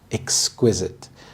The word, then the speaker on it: exquisite: Exquisite. The stress is on the second syllable, exquisite.